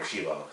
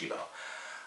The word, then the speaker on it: Cibo: Like the interactions, the way Killy meets Chibo and everything, or Shibo, it's how you pronounce it. Even though it's like Cibo, is pronounced Shibo.